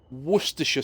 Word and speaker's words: Worcestershire: or source for those who don't know it's pronounced Worcestershire sauce I know because I actually live in